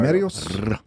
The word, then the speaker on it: Remedios: Remedios. You got to trill that R, man.